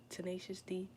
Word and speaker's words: Tenacious D: That's how you say it, Tenacious D.